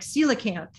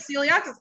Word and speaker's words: coelacanth: Yeah, it's like, the cook- oh, is this gonna say I found out how to remember that, like coelacanth. That's helpful for scientists here. Coelacanth, coelacanth, obviously.